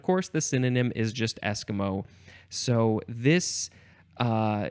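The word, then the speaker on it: esquimau: looks like it's pronounced Eskimo the first syllable is emphasized Eskimo um and yes you would you would it sounds like Eskimo it's not spelled like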